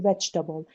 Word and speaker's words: vegetable: میگی vegetable. هر جایی که there is a vowel after the stressed syllable, that vowel is silent.